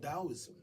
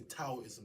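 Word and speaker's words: Taoism: a culture that culture was called dosm or some say taism they spell it t but it's dosm so the Dost text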